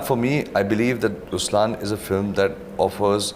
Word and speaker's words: Ruslaan: so even in raslan when you say raslan also means the line it's the attitude of am but the right pronunciation is rlan okay there is so